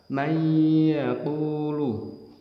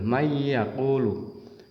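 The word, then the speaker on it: مَنْ يَقُولُ: bihunah harus membacanya dengung contoh yang ketemu ya tulisannya man yaakulu man yaaku tapi harus dibaca May yaquulu di pas di huruf ya seolah-olah y-nya dobel May yaquulu yang kedua Min nikmatin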